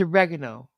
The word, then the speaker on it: oregano: have you're the authority they say oregano just like the Italians of the Americans and everybody else was you know the correct way of saying it so yes it's oregano thank